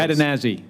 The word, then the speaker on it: Cadenazzi: And am I pronouncing that correctly? Cadenazzi. Close. Cadenazzi. Thank you.